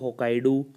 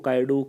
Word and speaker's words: Hokkaido: They are Honchu, Hokkaidu, Kyushu and Shikoku. Obviously, pardon my Japanese pronunciation if anyone is hearing from there because I don't know how to pronounce them. But it's Honshu, Hokkaido, Kyushu, and Shikoku.